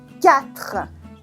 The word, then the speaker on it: quatre: That's quatre, quatre, okay? You don't say the U and you don't say the E, that's quatre.